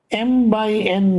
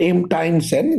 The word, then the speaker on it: m by n: stay in the class m by n matrix call this a m by so m it's not m times n that's how we write it and we pronounce it as m by n matrix m rows n